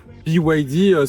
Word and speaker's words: BYD: On repose rapidement le contexte he mais BYD donc qui se prononce à l'anglaise BYD.